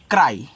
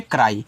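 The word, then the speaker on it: cry: सी आर वाई इसको पढ़ते हैं क्राई। सी आर वाई को पढ़ोगे आप यहां पे क्राई। देखो इस पे आ का मात्रा लग गया।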